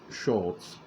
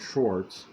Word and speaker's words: Schwartz: clue to adam and barnabas connection pure sherwood schultz perhaps even howard leeds maybe this may the schwa schwartz or start yet sherwood schwartz may the schwartz be with you sorry i